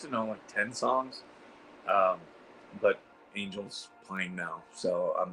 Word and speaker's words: Angel: It's not Angel, it's Angel. Angel. Angel. Okay. Everyone says Angel. I do. Okay, I'll correct that. Ange hair gel. Angel. No, I'm just kidding. I don't know how you're supposed to say it, but it's spelled Angel.